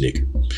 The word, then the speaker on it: nigger: And so what that means is that the anytime you see N-I-G-E-R, it is supposed to be pronounced nigger.